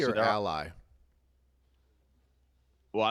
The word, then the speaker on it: Ally: Is it Alley or Ally? Well, I like Alley, but it is Ally. That's the proper pronunciation.